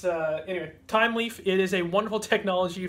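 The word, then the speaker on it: Thymeleaf: my opinion time Leaf time Leaf spelled with the uh like an herb time or herb if you're French uh time Leaf I shouldn't say French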